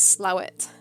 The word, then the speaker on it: Slaithwaite: no fan shot charlotte slaithwaite is a place in yorkshire that the locals pronounce slow it i'm told just the